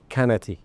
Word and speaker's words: Qannati: And I love the way the French pronounce it. By the way, they call it Kennati.